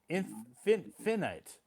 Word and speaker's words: finite: Finite? Is it? I thought it was finite. Finite. And I'm like, no, it's pronounced finite.